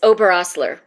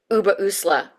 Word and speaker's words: Oberosler: Yeah, it's Oberosler. Oberosler. Yeah, I've heard it pronounced also Uberusla as well.